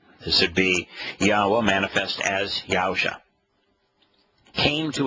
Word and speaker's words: Yahweh: in the first person but haa according to yahwah himself and he ought to know it's his